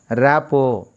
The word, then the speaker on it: rapport: Rapo is right pronunciation.